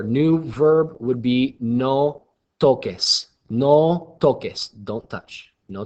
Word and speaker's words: toques: comes after a C, technically that C is pronounced like an S. So this would be read toses. But because we want it to say toques, we have to change the C to a QU.